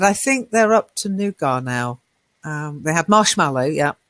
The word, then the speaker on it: nougat: Now, strangely, I usually say nugget, but people get confused. So I'm using the French pronunciation nougat. But as a Brit, I tend to say I like nugget, but most people don't know what I'm talking about then.